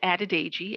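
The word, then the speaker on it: Adedeji: as an example it's added a g a d e d e j i it's an african name and it's pronounced phonetically just as it's spelled and interestingly enough i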